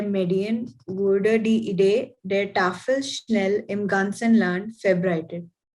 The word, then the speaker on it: Tafel: And the word is Tafel. Tafel. Yeah, it is not Tafel. The stress is on Tafel.